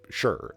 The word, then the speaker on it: shire: places throughout the UK Shire Shire Shire like at the end of it and psych but you don't say it like that you say sure like that's just you